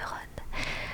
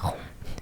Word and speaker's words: Ron: Du coup, j'ai grandi en pensant que rond se prononçait rond. Vu qu'en français R o N, ça se prononce rond comme rondroné.